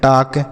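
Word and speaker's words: talk: टी ए एल के इसे हम पढ़ते हैं टक क्या पढ़ेंगे दोस्तों टक यहां पर भी ल साइलेंट है इसको नहीं पढ़ेंगे तो टक मतलब होता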